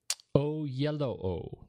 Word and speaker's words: Oyelowo: Oh, yellow O. That's how they phonetically pronounce it there.